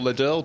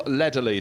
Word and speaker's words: Lederle: And just doubling back to Alex Morton's car, I mispronounced the name of the driver who raced in South Africa. Spelt to me Neville Ledderle, but Neville Lederley. Thank you, Marcus Pye, for correcting that.